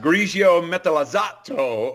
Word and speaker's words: Grigio Metallizzato: Well, now, Greg, I think it's pronounced Grigio Metallizzato over a black leather red. For all you Italian-speaking Alfa Romeo nuts, go ahead, send the cards and letters, but I'm pretty sure that's how we say it.